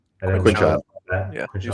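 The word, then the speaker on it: Quinshon: Quinshawn.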